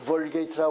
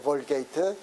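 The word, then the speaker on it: Vulgate: 영어로 발음은 볼게이트라고 그래요. 볼게이트.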